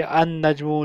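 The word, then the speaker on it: النجم: और दूसरी चीज़ हमने ये करनी है कि इनमें लाम साइलेंट होगा, जैसे अन नजमू लाम साइलेंट है, अर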